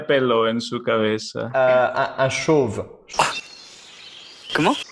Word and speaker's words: chauve: Un chauve. ¿Cómo? Chauve. ¿Cómo se pronuncia?